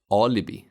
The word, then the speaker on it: Alibi: Both vowels I in this word are short because they are unstressed. Alibi.